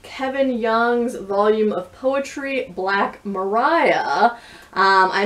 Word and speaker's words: Black Maria: I mispronounced this before, but it does in fact say at the very beginning of the volume, Black Mariah rhymes with pariah, slang meaning a police wagon or hearse.